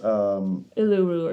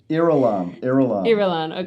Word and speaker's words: Irulan: Uluru or something like that. Uluru. It's... I don't the pronunciation of it is a little weird.